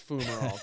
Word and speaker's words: fumarole: Let's find out if it's fumarole. Did I say it right? Let's see. Hold on. Fumarole. Fumarole. You sounded right. I sounded right. Fumarole. It's not fume, it's fume. Fumarole. Like fumes.